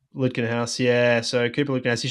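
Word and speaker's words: Lutkenhaus: Litkenhaus from America. Correct. Lutkenhouse.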